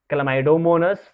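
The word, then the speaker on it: Chlamydomonas: There are some examples of algae, जिसमें से हैं स्पाइरोगाइरा, क्लैमाइडोमोनस, ध्यान से सुनना pronunciation, spirogyra, क्लैमाइडोमोनस, Fucus and laminaria.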